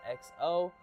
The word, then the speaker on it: EXO: And also at number two, we have the Vans Ultra Range XO. I believe that's how you say it, but it's spelled EXO.